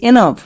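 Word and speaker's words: enough: Yuji H calf E এন O Yuji H এনাফ কে কখন silent থাকে যেমন দেখো আমি দুটো ওয়ার্ড নিয়েছি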